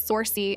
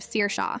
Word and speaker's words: Saoirse: Saoirse who becomes Sorcy instead of Saoirse.